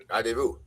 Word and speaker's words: Rendezvous: Tattoo Rendezvous. Is that how it's pronounced, Chris? Tattoo Rendezvous. Rendezvous.